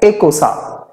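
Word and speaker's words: icosane: team after Dec 19 non addict 20 is a casa di CE o s it's pronounced as a casa 21 is hen a cosa 22 de casa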